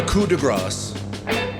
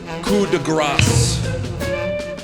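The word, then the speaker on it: coup de grâce: In this case, you pronounce the consonant coup de grace. When you leave out the consonant, what you say is coup de grace. The problem with that is that gras is a different word in French.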